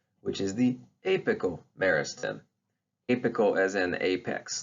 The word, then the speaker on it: apical meristem: the soil but that's the apical meristem it's pronounced apical meristem all right so what are the organs of